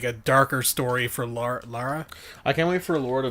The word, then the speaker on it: Lara: It's Lara. Billy Duke. I don't know if you heard it, but it's Lara, not Laura.